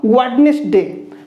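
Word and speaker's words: Wednesday: तो सेही बोले देखो वेडनेसडे, वेडनेसडे ड केबे भी आमे कोन कहवा नाही ड, तो वेडनेसडे बोली कहवा, तो डी को साइलेंट करी पढ़िबा।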